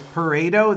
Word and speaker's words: Pareto: It's Pareto. That's how you say it.